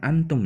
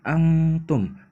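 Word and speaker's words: أنتم: Jadi, cara bacanya wala antum. Jadi, dibacanya bukan antum ya, tapi angtum, didengungkan.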